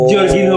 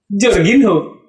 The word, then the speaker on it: Jorginho: Jorginho bacanya berarti ya, karena dia bukan orang Brazil.